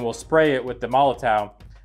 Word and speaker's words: Molotow: spray it with the malla towel and I think that's how you say it it's em Olo towa I think a smaller towel but we'll spray it